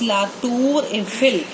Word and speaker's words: La Tour Eiffel: In English we say Eiffel Tower, but in French the pronunciation of Eiffel Tower is La Tour Eiffel.